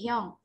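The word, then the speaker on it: 형: young young young lex tulisannya cium Tapi bacanya bukan siung ya tapi young young Nah jadi dilihat-lihat kalau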